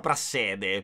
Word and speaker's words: Prassede: Finché Lucia non andrà da donna Prasside, che forse si pronuncia Prassede.